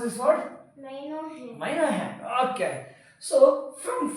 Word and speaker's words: minuend: How to pronounce this word? Minuend.